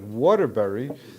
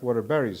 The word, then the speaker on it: Waterbury: By the way, it would remind me of Sandarovich pointed out that Waterbury. So there's also different places. Some places they pronounce the berries. It's Waterbury, not Waterberries.